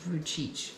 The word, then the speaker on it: Vujicic: Nick v j i i i but it's pronounced vuich yeah CH So today we're going to do